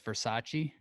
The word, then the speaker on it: Versace: Well, I believe it's Versace. That's right. And you did pronounce it right.